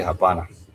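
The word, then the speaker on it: hapana: So therefore someone might ask and I would come up and say habana no thanks then that is no thanks.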